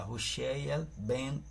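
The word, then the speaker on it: הושע: Oseias filho de num nem hebraico se pronuncia roxeia ou seja Oséias filho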